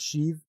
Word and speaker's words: sheave: I I pronounce it shiv shiv it's a shiv not the kind you stabby with there DJ hey what's